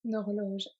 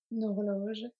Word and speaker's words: horloge: So here we have horloge is a feminine noun, but it starts with a H, which this one is a mute H, H muet, so it acts as a vowel.